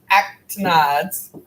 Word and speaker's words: actinides: It's pronounced actinides.